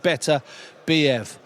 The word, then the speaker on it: Beterbiev: That's the way to pronounce it, Beterbiev.